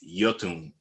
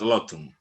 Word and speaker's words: Iotunn: talk about your band yotun we were talking about that earlier the for everybody out there who's watching this interview the right pronunciation of this new band by metal blade is jotun not lotum so to start